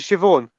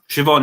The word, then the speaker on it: Siobhan: See, BH is pronounced as a V, but so is MH. Right. We also don't have a V. So basically, like Siobhan. Siobhan, yeah, BH is a B.